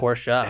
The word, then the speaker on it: Porsche: But Porsche. Have you ever seen his license plate? No. 2 syllables. I have never seen his license. It's 2 syllables, and it's on his Porsche.